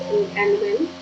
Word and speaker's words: Nguyen: Nguyen, pronounced Nguyen, is the most common name in Vietnam and the 8th most common in Sydney's new telephone book.